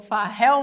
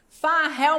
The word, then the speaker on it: Fahel: Farrell Molina, alguém conhece Farrell? Já vou convidar antes para vocês seguirem as redes dele. Ele tem um canal no YouTube. Farrell se escreve F-A-H-E-L. É um Rafael modificado, né?